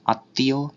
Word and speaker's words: আত্মীয়: তার দ্বিতীয় উচ্চারণ হয়, যেমন পদ্ম, আত্মীয় ইত্যাদি। এখানে দয়ের দ্বিত্ব উচ্চারণ আর তয়ের দ্বিত্ব উচ্চারণ হচ্ছে, আর উচ্চারণও কিছুটা নাসিক্য হচ্ছে।